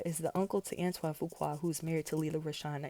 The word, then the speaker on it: Fuqua: Okay, so Harvey Fuqua is the uncle to Antoine Fuqua who's married to Lela Rochon, and Antoine is the director of the new Michael Jackson movie.